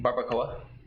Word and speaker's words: barbacoa: barbacoa.